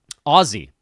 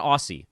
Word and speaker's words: Aussie: about Aussie Rules Football Ozzie I've been told I need to pronounce it with a Z not Aussie it's Oz my best friend from high school married an Aussie she corrected me quickly said nah man that's a hard Z which is the opposite